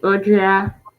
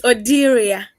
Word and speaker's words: Odira: Thank you so much, Audrea. I don't know um your name. Did I pronounce it rightly? It's Odira.